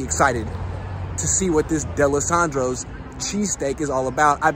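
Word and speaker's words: Dalessandro's: Then I was standing outside waiting for it, and I was talking to Ray, big Eagles fan, says it's pronounced DeLisandro's. I was saying DeLisandro's like an asshole.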